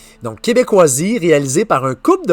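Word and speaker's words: Québékoisie: Euh, tu vas vivre toute une aventure en plongeant dans Québecisie qui s'écrit donc Q U e B e K o I s I e. Référence ici à Québec avec des cas. Donc, Québécoisie réalisé par un couple de voyageurs à vélo.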